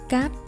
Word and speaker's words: cắt: But in Vietnamese, you do not emphasize the last letter T sound. Cắt. One more time. Cắt.